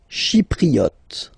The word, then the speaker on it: chypriote: Chypriote. She, remember this Y is pronounced like E, okay?